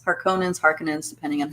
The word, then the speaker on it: Harkonnen: houses of power and then you have the harkinins harkonnens harkonnens depending on how you say that uh or how you pronounce that they pronounce it differently i imagine